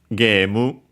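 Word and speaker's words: ゲーム: In this case, uh we have well first and for and foremost of course uh game game. Uh so yeah simply uh the a becomes long a makes sense since as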